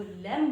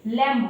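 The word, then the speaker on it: lamb: इसको भी गाइस हम लैंप बोलते हैं। लेकिन इसको लैंप बोलना गलत होगा। हम इसको लेम बोलेंगे। क्यों? क्योंकि यहां पर जो बी है वो साइलेंट है।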